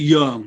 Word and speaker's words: Yeung: mali so you know just explain that phonetic correction y-e-u-n-g because it's a cantonese dialect not mine obviously because i'm terrible at the cantonese but yang is the written standard why ing but it's actually young when i first went